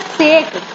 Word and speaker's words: sake: कि मुझे एक कप साकी मिल जाए. And don't read it एज सेक, इट इज साकी. ओके, प्रोनाउंसिएशन इसकी साकी है.